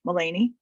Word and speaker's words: Melanie: Melinda and they halfed it up called me melany it's spell like Melanie but it's pronounced melany they uh were both uh sent